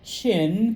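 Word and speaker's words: Qin: Remember, or those of you who are new, even though it starts with a Q, uh I g. All right. It's pronounced chin because under the old transliteration systems it was ch h i n.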